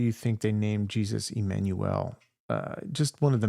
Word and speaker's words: Immanuel: It's actually pronounced with an I, by the way, Immanuel.